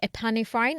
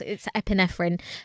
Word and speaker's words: epinephrine: but not pronounce it, I used to say epinephrine in my head, which is like not how it's said. It's epinephrine.